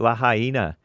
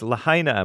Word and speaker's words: Lahaina: Through Lahaina, I guess it's pronounced. I used to call it Lahaina, but it's Lahaina, Maui.